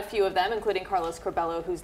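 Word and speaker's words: Curbelo: singled out a few of them including Carlos corbello whose name he mispronounced let's listen I'm not sure that I should be happy or sad but I feel just fine about it Carlos chabela Mike Coffman do bad Mike Mia love Mia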